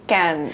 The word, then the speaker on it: Cannes: Oh, That's what they say. Can. It's can.